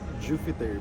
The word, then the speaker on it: Jupheter: pronounce your name actually it's supposed to be pronounced as Jupiter because of the pH but because I usually